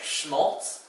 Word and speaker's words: Schmaltz: The sh sound in German, one of the first consonant combinations you might have encountered, is spelled with an SCH.